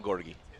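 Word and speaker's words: Georgi: for the Russian driver I asked a spotter how to pronounce his name and said just call him gorgi that's it that's how he's known just call him that Dan brette Dan brette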